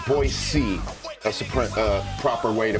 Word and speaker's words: Boise: foothills of eagle idaho boyce c you got to pronounce it boise that's a proper way